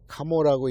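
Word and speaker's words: 鴨: 이 압이라고 쓰고 가모라고 읽는데, 그래서 이제 이 가모씨족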